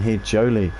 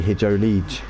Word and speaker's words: Hijolij: DJ in 14th, and Hijoli. I always call him Hijoli, but it's actually Hijolij.